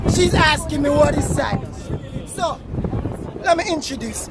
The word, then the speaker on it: Psynos: Alright, guys, so she's asking me what is sinus. So, let me introduce. My name is Sinus, that's spelled with a PSYNOS, that is.